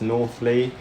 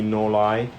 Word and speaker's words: North Leigh: description you know the the name of the layout sounds like it's northly it's actually nor lie um it's pronounced nor lie junction the reason for